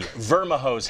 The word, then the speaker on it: Vermijo: Now, I'll tell you, local historians, they don't even have a record of the origin of these words, nor the pronouncer. So right now, the Vermijos have it.